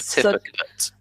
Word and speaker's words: certificate: the words as well here so the last syllable it's not eight its but I like less than so it's a certificate yeah yeah so if you could thank you